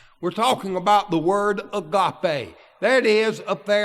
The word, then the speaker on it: agape: Agape. It's way we would pronounce that.